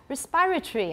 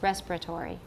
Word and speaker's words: respiratory: we need a lot respiratory i think is one way to say it in british english but in american it's respiratory respiratory everybody listen let's use